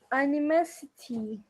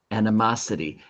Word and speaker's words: animosity: Animosity. That's very good. Animosity. And the O in animosity makes that ah sound.